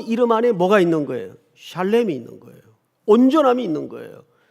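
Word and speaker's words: שָׁלֵם: 여러분, 여기 온전이라는 말이 히브리 말로 무슨 뜻인가, 무슨 발음인가 하면 샬렘입니다. 이게 온전하다는 뜻이에요. 한번 따라서 해볼까요? 샬렘.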